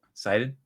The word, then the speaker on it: Sidon: How do you say it? Sidon. Poseidon. That's probably.